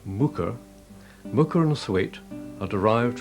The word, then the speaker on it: Muker: Pronounced Muker, Muker and Thwaite are derived from Old Norse words meaning a small cultivated field and a woodland clearing, respectively.